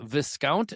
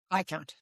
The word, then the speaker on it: Viscount: So today I've got Viscant. Is that how you pronounce your last name? Viccount. Viccount. Okay. I So the S is silent. So Vicount.